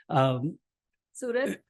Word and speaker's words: Surat: Is that how you pronounce where? Surat?